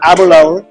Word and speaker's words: Aberlour: Today we are here at the booth of Aberlour, which rhymes with happy hour.